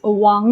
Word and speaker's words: 王: And maybe sometimes they will confuse the Wáng sound with the Huáng sound.